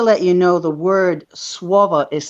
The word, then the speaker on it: słowo: The word slave is actually słowo. Okay, so if you were to phonetically spell it, it would be SWOWO, swovo, or VO, right?